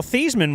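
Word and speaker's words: Theismann: Uh, well, Theman was changed to make it rhyme with Heisman.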